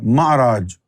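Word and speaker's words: معراج: So now, what is the difference between Meraj and Sa'ad? Meraj means someone is taking you higher, whereas, ‘sa’ad means you are ascending by yourself. In Arabic, the letter ‘ain’ works as ‘alif’.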